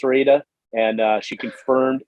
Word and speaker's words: Rueda: I asked Jenny about 18 times how to pronounce Rueda, and she confirmed it's not round, Sean.